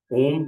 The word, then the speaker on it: ओम: चलिए, यहाँ से 30 सेकेंड्स हम और लेंगे और हम ओम का उच्चारण करेंगे। ओम के उच्चारण में अ, उ और म, तीन तरह की ध्वनियां उत्पन्न होती हैं।